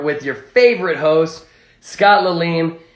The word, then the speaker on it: Lalime: Welcome back to the Lime Stream, everybody's favorite sour hour with your favorite host, Scott Lalim. It's spelt Lalime.